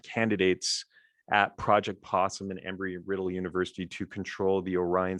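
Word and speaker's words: Embry-Riddle: civilian astronauts at the university uh sorry uh embry riddle university is how you say it in daytona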